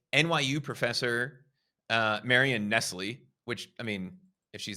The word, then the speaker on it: Nestle: Actually, she pronounces her name Nestle, but it's spelled exactly like Nestle.